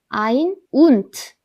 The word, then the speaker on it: ein: 딱 1일 때는 eins라고 읽지만 21, 31, 41 이런 경우에는 그냥 ein이라고 합니다. ein und.